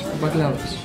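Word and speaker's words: μπακλαβάς: Is it baklava or This is baklavas. Baklavas. In Greek, baklavas. Okay.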